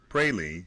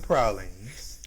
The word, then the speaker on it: praline: it's prades if someone if someone pronounces the word Prine you correct them and said no they were created in our city we call them pralines so that's what they're